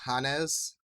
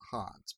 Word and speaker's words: Hannes: Like, especially when he confronted Hannes. I think that's how you pronounce it, not Hans, but yeah.